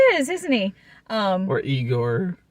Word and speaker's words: Igor: for yourself ma is igore he kind of is isn't he um or eigor it's usually pronounced Igor but um yeah so